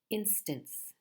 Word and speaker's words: instance: two syllables in instance what is the stress is it the first syllable or the second instance instance it is the